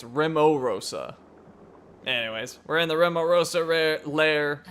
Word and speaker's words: Rimorosa: let's do it oh I've been saying it wrong it's rimo Rosa anyways we're in the